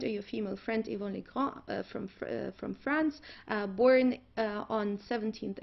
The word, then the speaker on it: Legrand: Ihre Freundin Yvonne Legrand aus Frankreich, because it should be French. In the German pronunciation would be Legrand, but since it's a French name, let's say Legrand.